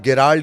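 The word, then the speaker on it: Gerald: तीसरा जिसे आप गिराल्ड या जेरा दो नाम कहते हैं। यह प्रोनंसिएशन का मामला है। उसकी स्पेलिंग दरअसल जी ई से शुरू होती है। तो कोई गैराल्ड बोलता है, कोई जेराड बोलता है।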